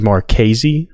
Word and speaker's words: Mares: Now, how would you like to pronounce Brady's last name? Georgia got to commit out of Carterville. Brady Mares from Carterville, Georgia. From everything I've heard, it is Marques.